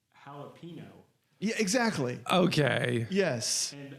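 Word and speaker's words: jalapeño: She says jalapeno, Yeah, exactly. Okay. Yes. and I said, Stephanie, do you see that little tilde over the end? You're saying it wrong. It's jalapeno.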